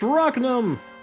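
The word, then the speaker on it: Rhaknam: It's Rocknum! I've been mispronouncing all this time because I keep on forgetting there's an N in his name!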